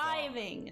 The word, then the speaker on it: Cliving: Cliving is how you say it.